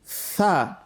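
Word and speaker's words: ث: Okay, the tip of your tongue touch the tip of your upper incisors.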